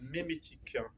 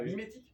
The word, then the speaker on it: mémétique: Je vous invite très fortement à vous renseigner sur la mémétique. Qui a entendu parler de ça? Levez la main. La mimétique?